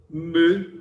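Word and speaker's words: μῦ: teta, iota, kappa, lambda, mu. A gente fala mi, mas a pronúncia é melhor. Mu é uma coisa meio francesa, a mistura de u com i, é mu.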